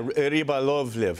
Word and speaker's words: Rybolovlev: Yeah, Rybolovlev.